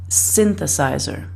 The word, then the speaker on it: synthesizer: in the dictionary and we look for where the apostrophe is it's before the first syllable so we want to say synthesizer it's the first word that we uh excuse me it's the first syllable that we stress a bit more than the others and the reason I